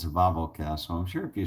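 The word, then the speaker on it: Wawel: bobble you know W awl which we would pronounce wah wah wah wah wah well castle but but it's a Volvo Castle I'm sure if you search a Volvo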